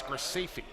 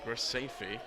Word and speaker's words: Graceffi: I'm going to go with her former center, who says it's Graceffi. Graceffi.